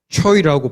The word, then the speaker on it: 최: 왜냐하면 이곳은 최를 발음할 때 초이라고 발음을 하는데 이곳에서 초이라는 뜻은 잘생겼다, 똑똑하다라는 의미입니다.